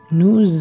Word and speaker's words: nous: Jika S bertemu dengan huruf vokal, dia akan dibaca menjadi Z. Jadi, kita bisa ucapkan seperti nous avons.